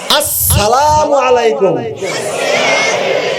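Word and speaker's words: السلام عليكم: করেন সওয়াব পাইবেন বলেন আস হয় নাই আসসালামু আলাইকুম হামগাড়া শক্ত হবে সিনটা ডবল উচ্চারণ হবে সিনের উপরে জবর হবে অনেকে সিনের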